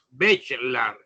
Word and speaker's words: Bachelard: espíritu científico es gastón se escribe bachelard pero se pronuncia de charlar y él plantea que